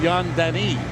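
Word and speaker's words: Yann Danis: in Montreal too and I want to correct the pronunciation of the new Montreal goalie I was told it's young Denny Okay so Danny okay he's from the province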